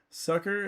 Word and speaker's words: succor: Sucker is pronounced the same as sucker.